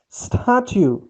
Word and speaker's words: statue: The statue. Here, please notice, put stress on S.